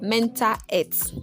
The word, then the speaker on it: Menta Het: how to pronounce it, it is pronounced Menta Het. So, you will find that this is an easy way to pronounce mental health for us.